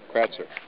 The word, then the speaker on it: Kratzer: I think it'd be Kratzer. There you go, Kratzer.